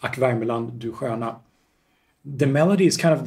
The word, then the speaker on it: Ack Värmeland, du sköna: And in Swedish, it's Ack Värmeland, du sköna.